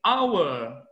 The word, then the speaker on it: our: Our. Our e ours. No meio da conversa, você pode pronunciar our, que é a mesma pronúncia do verbo to be. You are.